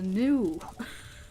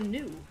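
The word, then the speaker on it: nue: It's a new. It's a what? It's a new.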